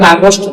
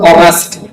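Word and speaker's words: August: July আগস্ট বাংলায় আমরা আগস্ট বলি আগস্ট মাস কিন্তু আমরা ইংরেজিতে উচ্চারণ করব অগস্ট সেপ্টেম্বর এই সেপ্টেম্বর এরকম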